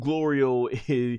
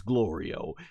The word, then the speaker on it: Glorio: like Thanks Glo which he's been constantly mispronouncing Gloria's name through this whole time and gloral once again as he's done the entire of the series it's glorio and he even Smiles